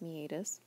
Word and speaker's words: meatus: know it looks like meatus but generally it's pronounced meatus and what that means is there's a actually